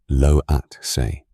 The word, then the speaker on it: Lhotse: 2 other very high mountains, Lhotse, Loatse, and Nuptse, Nupitse, form the rim of an